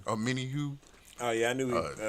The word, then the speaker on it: Omenihu: Now, it did come out that your boy, how you pronounce the name? Omenihu. Omenihu.